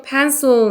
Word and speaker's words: pencil: 그 다음에 다시 또 pencil 났죠? 앞에 했던 것처럼 여기 pen의 강세 있죠? pencil 요 발음 기호랑 요 발음 기호랑 같은 겁니다.